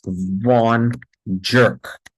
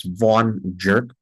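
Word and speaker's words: Von Gierke: jerk you know why I want you to pronounce it as vau jerk because the first glycogen storage disease is like the first boyfriend and what is the first boyfriend he is a jerk okay seeon jerk now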